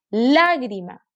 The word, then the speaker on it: lágrima: Lágrima. Aquí está su sílaba tónica, en la antepenúltima. Y es una palabra esdrújula.